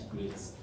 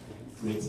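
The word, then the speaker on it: Graetz: this is called your how do you pronounce this you can develop your own way to pronounce it but i pronounce it as grits grits number right so grits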